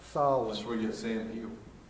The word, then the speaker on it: Samhain: Now it's spelled Samhain, but it was pronounced Samhain.